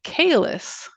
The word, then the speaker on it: Caelus: Roman equivalent would be Caelus, which I mean sounds kind of like a very famous Klingon from Star Trek, but it's spelled Caelus, and it sounds awesome.